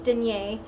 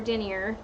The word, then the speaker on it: denier: this amazing 200 D that's danyay or denier depending on your pronunciation of the French the 200 d which